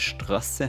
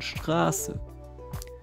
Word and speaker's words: Straße: Zum Beispiel ist das der Grund, weshalb es für Leute aus Deutschland vollkommen klar ist, dass es nicht «Strasse» heisst, sondern «Straße».